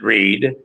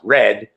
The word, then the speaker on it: Red: I pronounced it Reed. But I was corrected by one of the older locals. It's like, if you're going to talk about our sheriff, at least get his name right. It's pronounced Red.